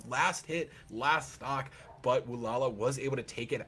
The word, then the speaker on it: Brawlhalla: It's Brawlhalla. Brawlhalla. So you were saying it right, I was saying it wrong.